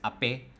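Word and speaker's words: Ape: 3 wheelers चलते हैं एप के नाम से. Where you don't pronounce it एज एप, इट्स अपे, बिकॉज ई के ऊपर एक्सेंट लगा हुआ है.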